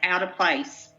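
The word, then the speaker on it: alteplase: e believe it or not that's how you pronounce it ala play out of place a l t e p l a s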